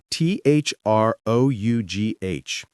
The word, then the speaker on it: through: T H r o u g h.